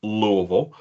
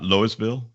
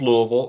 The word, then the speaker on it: Louisville: yes people it's pronounced Louisville um like you've got a mouth full of marbles it's not it's not it's not Louisville no no it's not Lewisville or Louisville no it's Louisville um I grew up